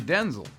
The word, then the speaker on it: Denzel: off you and while you've probably been saying his name wrong this whole time my name's actually Denzel it is not yes